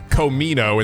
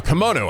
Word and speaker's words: kimono: say it i actually actually said komino is that was an actual up i got my my vowels backwards actually do you know